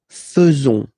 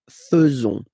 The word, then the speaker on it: faisons: So it's quite strange because French people tend to pronounce faisons, okay? So like here, this A-I is not pronounced like normally we should pronounce it like E, but then like E, okay? Nous faisons. Nous faisons.